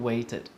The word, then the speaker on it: waited: okay and last one waited waited I waited for my family to come and visit me so waited obviously very clear edy there and that edy spelling is pronounced like an ID all right so I